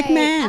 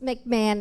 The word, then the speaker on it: McMahon: Okay, McMahon. I always say it's McMahon. It should be McWoman, but it's McMahon.